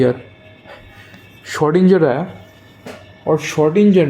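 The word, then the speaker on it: Schrödinger: de Broglie के एक student जिसका नाम है शडेंजर एस एच ओ नाम का स्पेलिंग थोड़ा सा गड़बड़ है मतलब गड़बड़ नहीं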